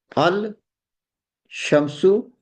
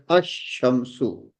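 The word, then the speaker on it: الشمس: Like al shamsu, the sun, is pronounced as ash-shamsu. Ash-shamsu. So with the solar letters, we don't pronounce the lam.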